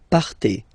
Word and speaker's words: partez: Okay, then for vous, classic ending for vous as well, EZ, but then you pronounce it et, vous partez.